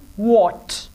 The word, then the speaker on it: what: So aap isko what nahi kahenge, balki aap ise pronounce karenge what. W-H-A-T will be pronounced what.